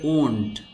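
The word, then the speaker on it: wound: এই ওয়ার্ড বা শব্দটির উচ্চারণ হবে ওন্ড জখম করা, র্যাপ মোড়ানো বা গুটানো, র্যাসল কুস্তি করা, রাইট লেখা, রিগল ছলনা করা।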